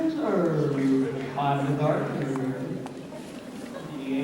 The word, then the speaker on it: Herb: My name is Herb. The gardener here, the H is silent, you know.